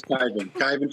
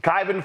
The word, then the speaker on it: Kyvan: Pronounce it, please. It's Kyvan Foods. Kyvan Foods.